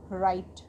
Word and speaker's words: write: WRITE, राइट, इसमें भी हमारा W साइलेंट है क्योंकि W लेटर के बाद हमारा R लेटर है, इसको हम पढ़ेंगे राइट।